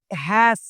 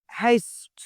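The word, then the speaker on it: haste: পেনাসপত hurry up hurry up তাড়াতাড়ি করো make হ্যাস তাড়াতাড়ি করো এখানে যদি সঠিক উচ্চারণ করি তাহলে মেক মানে এটা হস যুক্ত হবে এখানে make make হেস্ট make হেস্ট তাড়াতাড়ি করোশিট আমরা কথায়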